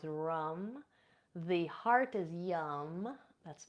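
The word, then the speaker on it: ram: The solar plexus is rum, R-A-M, but pronounced rum.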